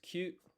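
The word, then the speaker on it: 九: Kyu and ku.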